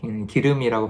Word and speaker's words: 길음: 그래서 남자는 그제서야 아까 그 여성이 길음이라는 이 장소가 있거든요. 그래서 기름역으로, 기름이라고 발음되죠.